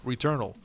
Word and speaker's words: Returnal: Returnal. Look, it's not Swedish. Yeah, it's just a portmanteau.